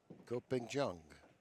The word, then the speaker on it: Ko Ping-Chung: Go Ping-Chung.